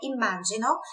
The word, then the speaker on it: immagino: Imagino, fica quase a mesma coisa, sílaba tônica, só a sílaba forte, a pronúncia é diferente, né? Tem dois M's ali, aquela pegadinha mais um M, então é imagino.